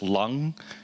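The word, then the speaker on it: 龍: I'll be on the Hill, and I will have a hat that says Dragon Warriors, because dragon is pronounced lung in Chinese, so it's a nice pun.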